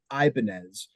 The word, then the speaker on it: Ibanez: Well, just to if we're gonna play the correction when it comes to name, my last name, since it doesn't have the tilde, would be pronounced Ibanez.